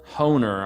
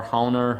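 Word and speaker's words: Hoehner: is this book by howard or harold hohner i guess is how it's pronounced it's h-o-e-h-n-e-r homer owner um this thing is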